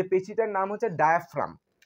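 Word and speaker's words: diaphragm: ডায়াফ্রাম ডায়া ফ্রাম ডায়াফ্রাম ডায়াফ্রাম বানানটা একটু একটু খটোমটো ডি আই এ ডায়া পি এইচ আর এ জি এম এখানে জি যুক্ত হবে ঠিক আছে জি যুক্ত হবে কিন্তু জি এম ডায়াফ্রাম ডায়াফ্রামের বাংলা কি ডায়াফ্রামের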